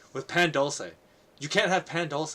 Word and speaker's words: pan dulce: Oh, pan dulce is just so good.